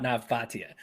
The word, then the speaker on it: Nav Bhatia: You're about to talk about the thing I actually know about Nav Bhatia. Yeah. Okay. Oh, then you're pronouncing his name.